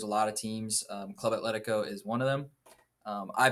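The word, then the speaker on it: Atlético: Atletico. Atletico.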